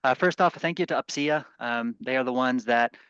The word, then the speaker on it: UPCEA: It's spelled UPCEA.